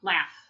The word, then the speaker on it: laughs: and repeat laughs laughs the gh sound or the ugh sound sounds like it's an F sound laughs talk talk we don't